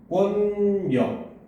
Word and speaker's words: 공권력: 나죠 그죠 자 그다음 공권력 같은 경우는 발음하면 공권 력 이렇게 소리가납니다 근데 선생님이 방학 때